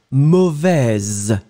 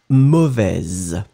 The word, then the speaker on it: mauvaise: and the feminine form, mauvaise. Okay, so masculine final S not pronounced, so mauvais. Feminine form, you will just by adding this E pronounce the Z in the end. Mauvaise.